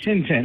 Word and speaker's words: Tintin: Is it Tenten or Titine or how how's that pronounced? Tenten.